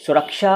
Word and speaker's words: सुरक्षा: को देख लीजिए, और यहाँ भी समझ लीजिए सुरक्षा और सक्षम का सही उच्चारण यही है जो मैं कर रहा हूँ।